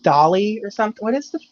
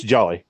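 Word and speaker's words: Djali: yeah okay what is it's like dolly it's jolly Jolly yeah yeah but it's it's spelled like did did Joe it's like it's like Jean like gin like yeah it's jolly he's he's uninteresting an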